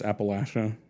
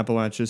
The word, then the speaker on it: Appalachia: Appalachia. Yeah, Appalachia.